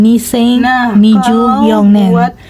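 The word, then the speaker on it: 二千二十四年: Akan tetapi dalam pengucapannya tetap diucapkan dengan Nisen Nijuyonen 2024.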